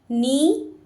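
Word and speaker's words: knee: यह पैर की अंगुली नी घुटना नी देखिए के साइलेंट है के की आवाज नहीं आएगी क्या प्रोनंसिएशन होगा नी नी घुटना जौ जबड़ा तो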